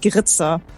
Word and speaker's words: Grizhar: Is it Grizhar? Something like that? Best not to say it. It's usually my advice. It's a made-up name. We pronounce it Grizhar.